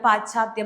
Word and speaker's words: പാശ്ചാത്യ: Confusion വരുന്നില്ലേ ഏത് ഇച്ഛയാണ് പാശ്ചാത്യം എന്നുള്ളതിന് എന്റെ ഉച്ചാരണം ഞാൻ രണ്ടു തരത്തിലും നിങ്ങൾക്ക് ഉച്ചരിച്ചു തന്നു. ഞാനിപ്പോ നിങ്ങൾക്ക് ശരിയായിട്ട് ഉച്ചരിച്ചു തരാ പാശ്ചാത്യ ബുദ്ധിമുട്ടുണ്ടോ ഇല്ലല്ലോ അതായത് ആദ്യം ശ പിന്നെ ച എന്നുള്ള ഒരു ഇത് നമുക്ക്